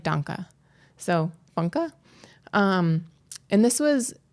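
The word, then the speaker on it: Funke: name wrong it's Cornelia funka so it's f-u-n-k-e and in German if there's an e on the end it's like it's like Danka so funka um and this was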